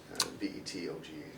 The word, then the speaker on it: Vetoga: VETOGA. Vet toga. Vet toga. Yeah, Vet toga. like a combination of veteran and yoga.